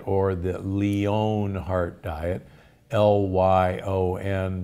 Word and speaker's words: Lyon: which was called the Lion Heart Diet or the Lion Heart Diet, L-Y-O-N, but most from Lyon, France, but most people pronounce it lion.